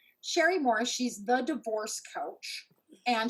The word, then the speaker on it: Cherie Morris: Please excuse my mispronunciation earlier. It's Cherie Morris.